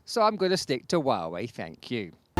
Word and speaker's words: Huawei: the first place well as huawei is from guangdong province where cantonese is the main dialect the firm says the name should be pronounced huawei fair enough i can